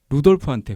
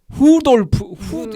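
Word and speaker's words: Rudolf: 라고 하는 특히 그 사실 제가 독일어를 고등학교 때 배웠는데 내 기억에는 분명히 L 발음이나 R 발음은 루돌프였는데 이게 약간 발음이 이렇더라고. 후돌프 후와 루의 사이에 있는 후돌프 하는데 뭐 소리를 지른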